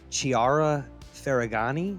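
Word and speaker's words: Chiara Ferragni: Have you ever heard of Chiara Ferragani?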